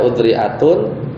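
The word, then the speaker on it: أذرعات: Kalau dia marfu, dia bacanya udri'atun, ya.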